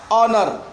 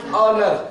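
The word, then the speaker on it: honour: खत्म कर देना अब कैसे समझो क्या ओ से पहले ह ओ एन ओ यू आर ह ओ ह ओ एन ओ यू आर ओनर लेकिन लिखा क्या हो गया ऑनर क्या लिखा हुआ है ऑनर लेकिन ओ से पहले ह जो है वो ह पढ़ा नहीं जाएगा इसलिए ओनर पढ़ना होगा क्या पढ़ना पड़ेगा ओनर जब भी ओ से पहले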